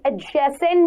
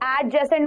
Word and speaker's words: adjacent: इफ आई am saying he is standing एडजेसेंट मी, इसको एडजेसेंट मत पढ़ना, एडजेसेंट. डी हल्का सा साइलेंट होता है यहाँ पे.